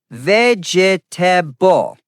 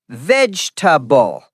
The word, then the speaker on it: vegetable: Many students say vegetable, four syllables. Correct is vegetable, three syllables. Example, Jack, I eat a lot of vegetables every day. Native speakers don't say vegetable. They omit the middle sound.